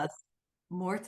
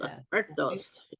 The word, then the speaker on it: los Muertos: I'm from New Mexico, so I should be able to pronounce this properly. Dia de Yeah. los Mortis. Los Muertos.